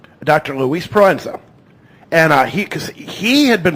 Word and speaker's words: Proenza: Thank you, because I never knew how to pronounce that name. Dr. Luis Proenza.